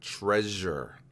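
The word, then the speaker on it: Trezor: though it's spelled t-r-e-z-o-r it's pronounced like the word treasure i'm gonna mess it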